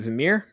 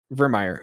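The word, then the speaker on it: Virmire: Is it Vimir? How does that pronounce it? Vermeer.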